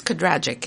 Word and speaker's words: Kadragic: The American way is Kadragic, and that would be Canadian as well.